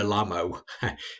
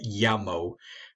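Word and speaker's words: llamo: it it's me la lamo if you didn't know any spanish which your spaniard wouldn't understand of course because you have to say me yamo so if you're not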